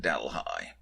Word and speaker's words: Delhi: delhi ontario spelled like delhi in india but pronounced delhi to visit a model railway store which google